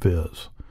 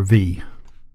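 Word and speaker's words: vis: In a node they're called viz. Or V. Actually, I think it's actually supposed to be pronounced V.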